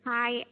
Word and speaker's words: find: Just a very clear D sound at the end.